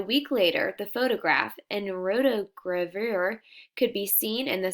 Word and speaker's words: rotogravure: Rotogravure.